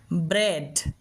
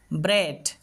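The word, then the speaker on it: bread: তবে এর কয়েকটা ব্যতিক্রম পাওয়া যায়। তো সেই ব্যতিক্রমের মধ্যে এ বা এই এরকম উচ্চারণ দিয়ে থাকে। যেমন দেখো ব্রেড খেয়াল করো এখানে আমরা ইনটাকেই দেখতে পাচ্ছি। কিন্তু ই সাউন্ড করছি না। এ সাউন্ড করছি।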